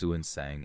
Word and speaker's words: Xuanzang: Xuanzang, pronounced Suansang in older texts, was not yet the legendary traveler he would become.